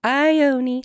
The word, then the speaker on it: Ione: But especially in something like fantasy, when stuff is made up, they want you to pronounce names and places. And I was like, it's Ione.